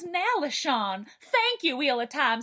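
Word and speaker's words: Nalesean: I thought I knew how to pronounce Nalisian, but then I realized it was Nalishon.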